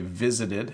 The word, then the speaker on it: visited: I visited my mum so notice I say visited visited I visited my